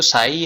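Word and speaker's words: psi: था ऐसे साई करके, इसको साई प्रोनाउंस करते हैं हम लोग, ठीक है, ऐसे दिखता है तुमको।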